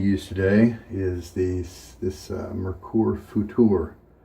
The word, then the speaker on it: Futur: The razor we're going to use today is this Merkur Futur. It's spelled future, but with no E at the end, so I assume it's pronounced Futur.